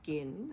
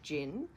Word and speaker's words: Ginn: so our surname is gin and a lot of people mispronounce it as gin so I was sort